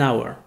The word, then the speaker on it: hour: Car il faut savoir, qu'en anglais, il y a certains mots avec un H dont le H est muet. Par exemple, an hour.